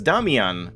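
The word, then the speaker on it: Damjan: It's Damian, like Damien. It's the same, like, root name as Damien.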